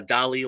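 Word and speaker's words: DALL-E: to image tool called Dolly uh Dolly like Salvador Dali but spelled like Wally the Disney cartoon d-a-l-l-e if you guys are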